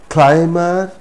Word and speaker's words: climber: time come come if these words are the root words or the roots then even if mb is in the middle of the word we will not pronounce be for example climber not climber climber plumber plumber not plumber dumb struck dumb struck no there shouldn't be any bar sound now when mb is